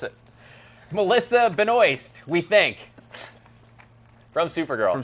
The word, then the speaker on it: Benoist: me to pronounce her I forgot how to pronounce it Melissa Benoist we think from Supergirl and Supergirl then we